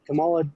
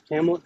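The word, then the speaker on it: Kamala: Camala, not Camel.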